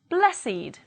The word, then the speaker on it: blessed: If they are adjectives, they do not follow the rule and they will be pronounced with id, it. Let's read it as adjectives. Aged, blessed, crooked, dogged, learned, naked, ragged, wicked, and wretched.